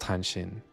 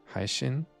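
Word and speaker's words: 配信: Not hanshin, haishin, something like that.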